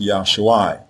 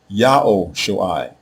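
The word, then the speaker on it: Yahushua: So when you see this word and is actually being used as a personal name, it is not pronounced Yosuai. It is pronounced Yahoo Shuai and the person who is salvation is immediately identified by name.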